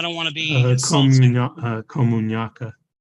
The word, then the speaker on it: Komunyakaa: Komunyakaa. Komunyakaa. Yes. All right. Apologize for that. I'm not good at pronouncing, but we'll do our best.